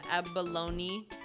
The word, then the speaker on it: abalone: it let's drink it you actually do pronounce the e at the end of Abalone I don't know why